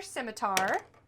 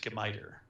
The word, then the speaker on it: scimitar: So they are going to be using their scimitar. The first one. Actually, it's pronounced skimiter.